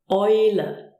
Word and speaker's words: Eule: Then we have the combination EU, which is pronounced OI. Eule.